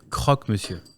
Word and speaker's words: croque monsieur: How do you pronounce it? yeah, croque monsieur.